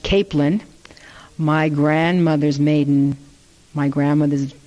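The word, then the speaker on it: Caplan: grandmother's last name was CA P LAN they pronounced it capelin my grandmother's maiden my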